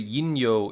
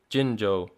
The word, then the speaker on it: Jinjo: I'm hoping he's gonna say yinyo instead of jinjo, but he also pronounces it perfectly, jinjo.